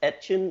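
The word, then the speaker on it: Etienne: way his name is spelled etchin like it's pronounced etchin it's a louisiana uh like pronunciation i saw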